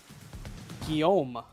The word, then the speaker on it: Guillaume: Guillaume. Guillaume? Yeah. Guillaume Hall. There's no L sound in it. Guillaume. Guillaume Guillaume. Hall. Like with a really French. Guillaume.